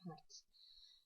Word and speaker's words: Hz: se kemudian dinamakan herz atau disingkat Hz dibacanya herz gitu ya jadi tadi